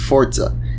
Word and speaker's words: Forza: right off the bat is that it is pronounced forza it's an italian word meaning force power or